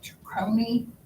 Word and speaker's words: Tawakoni: And I remember how to pronounce it, Tawakoni Circus is coming to town on November 10th, 11th, and 12th.